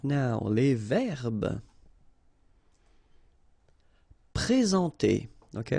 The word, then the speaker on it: présenter: Okay, remember when we've got this accent aigu like that on the top of sorry, then you should pronounce it e. All right, and then you combine the two en nasal en.